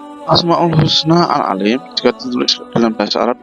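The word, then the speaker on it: العليم: Bacanya ain, ada suaranya di dalam rongga mulut. Huruf lamnya dibaca panjang karena setelah lam ada huruf ya yang berharokat sukun.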